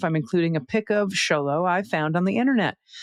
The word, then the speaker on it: Xolo: before but the Xolo breed of dog is pronounced Xolo which is short for Xolo eats quintly.